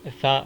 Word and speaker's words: ث: We pronounce it thaa like think or thing. This thing is mine. Thaa. Not ta, but tha, right?